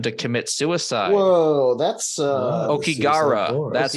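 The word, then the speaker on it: Aokigahara: Whoa, that's Okigara. That's how you pronounce it.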